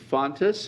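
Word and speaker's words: Fountas: It is recommended that the board approve the purchase of Fontes, is that the way to pronounce it?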